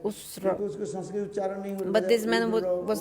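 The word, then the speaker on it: उष्ट्र: So the man told, Kalidas told, the Uttara. Actually in Sanskrit the word is Usha for camel. Ushra. In Sanskrit, camel is called Usra.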